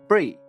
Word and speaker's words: Brie: to note though that my name is pronounced like the cheese Brie not briy not a big deal